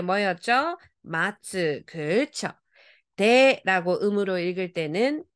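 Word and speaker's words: 待つ: 자 기다리다 여러분 알아요 뜻으로 읽을 때 뭐였죠 마츠 그죠 데라고 음으로 읽을 때는 타이가 됩니다 자 그러면 가보겠습니다 자 첫 번째 글자 기다리다 동사에 뭐예요 미나상 마츠다 그죠 그죠 잘하셨어요 오른쪽은 뭐냐 했더니 기대 되겠네요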